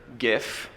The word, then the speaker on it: GIF: chose this uh particular GIF and I'm pronouncing it with the hard G because uh uh the